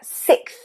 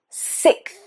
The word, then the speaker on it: sixth: Okay, so we've got a k and a th and a I. The vowel sound is not so much of the problem there. It's when we have the k and the th together.